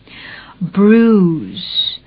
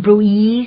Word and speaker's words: bruise: คือ เป็น ผืน ขึ้น bruise ไม่ ต้อง ไป ออก เสียง bru นะ คะ ถึง แม้ ว่า มัน จะ สะกด ด้วย b r u i s e bruise ก็ คือ ช้ำ อาการ